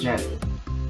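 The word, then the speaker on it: Djent: It's pronounced as gent, but it looks like the gent. D. That's how it's spelled. The d is silent.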